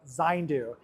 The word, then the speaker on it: Zayndu: data behind this technology, please look online for Zandu. That's spelled Z A Y N DU.